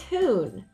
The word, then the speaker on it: hoon: and it's easy and a word that rhymes with goon is hoon now if you don't